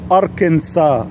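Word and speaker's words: Arkansas: رقم سته ولايه طبعا لو قريتها هتقراها اركان ساس بس في امريكا بينطقوها اركنسا ما بينطقوهاش اركنسس زي ما هي مكتوبه ودي نسبه ودي نسبه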